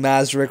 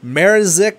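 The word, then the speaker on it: Mrázek: start and I know I'm pronouncing mazri wrong it's marzik or something I I know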